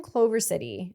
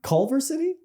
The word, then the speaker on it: Culver City: Am I saying it wrong? Culver City. I don't sure. You know what? It's fine because I bet you there is a Clover City. Culver. Culver.